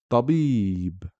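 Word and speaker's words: طبيب: But since there is a ya after the ba, we pronounce the word tabib.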